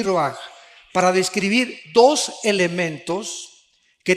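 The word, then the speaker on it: רוח: Se pronuncia roaj. Por ejemplo, cuando hablamos del Espíritu Santo, el Espíritu Santo es roaj, el Kadosh, el Espíritu Santo.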